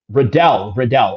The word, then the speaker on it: Riddell: C says on the comment section, Riddle, not Riddle, rhymes with Liddell. Okay. Riddle. Okay. Riddell.